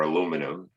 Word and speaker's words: aluminum: This is the chemical representation of aluminium or aluminum. We actually have two ways of pronouncing that word.